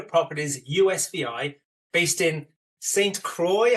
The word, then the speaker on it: Croix: USVI based in St Croy have I pronounced that correctly yeah perfectly Robin European in me wants to say squ but Croy in the US Virgin Islands and you know what